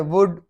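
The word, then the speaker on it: would: वुड, शुड, कुड, ये तीनों में एल है लेकिन एल साइलेंट है।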